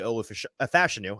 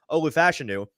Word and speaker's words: Olu Fashanu: alt and their second tackle is not actually ol fashanu I keep saying it wrong Olu fashanu it's tily fuaga it's JY leam it's uh